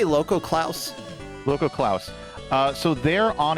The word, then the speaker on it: Lokoklouse: So, like, as we can see in Loco Laos, how do I pronounce that? I say Loco Klaus.